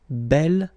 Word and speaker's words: bel: have to put this Bell form instead of boo okay remember you pronounce it bell so like the feminine version but then you write